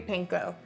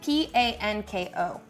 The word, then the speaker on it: panko: like a ground beef panko how you pronounce it again p-a-n-k-o panko panko panko is a binder